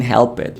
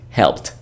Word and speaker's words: helped: Instead of saying help it, we say helped, a T sound at the end.